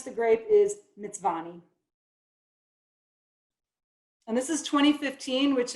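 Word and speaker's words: Mtsvane: Shaulari Cellars, and the way you pronounce the grape is Mitzvani.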